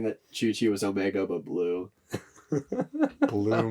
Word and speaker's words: Chuchi: Senator Chuchi, but the first H is silent.